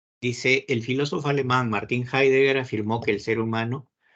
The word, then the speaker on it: Heidegger: Aquí parece que han cambiado un poco el texto, pero bueno, Lo que entendí de Martín, ¿cómo se pronuncia? Es Heidegger.